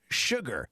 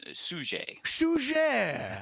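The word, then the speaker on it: Suger: pronounce this name uh suje yes sushi you wanna you wanna sound more culturally more french i think it's actually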